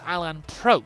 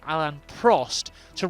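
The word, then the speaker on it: Alain Prost: from me to not Muddy Walker is he's pronouncing Alan Prost's name as Alan Pro as in pro to rhyme with roast. Now I always say Alan Prost to RHYME WITH HELP ME HELP ME.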